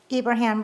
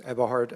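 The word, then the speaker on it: Eberhard: Ibraham followed by Robert Hunter. You got my name wrong. It's Ebahart. I'm from Germany.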